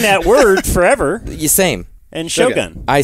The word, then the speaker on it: Shogun: hearing all about it why do you pronounce it like that because I think you're supposed to yeah Shogun it's not Shogun no because I think I said that and then in the show they said Shogun oh okay I've always